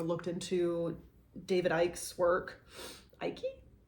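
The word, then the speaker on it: Icke: into David ik's work ikey Ike forget how you say his name I think it's just Ike um he does identify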